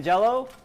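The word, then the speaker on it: Jell-O: to celebrate your glorious j-e-l-l-o it's a company that rhymes with hello it rhymes with mellow it's called jello jello but you can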